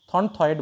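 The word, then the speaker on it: Thornthwaite: কৌকার পয়কার্য আরেকজন হচ্ছে thorn wait কি বললাম থনথয়েড বলে একচুয়ালি থনথয়েড ইংরেজি নাম থনথয়েড ঠিক আছে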